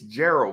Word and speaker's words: Gerald: on mispronouncing my name it's Gerald with the J yes I know Mr